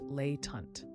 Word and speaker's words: latent: You now know the word latent, pronounced lay tant.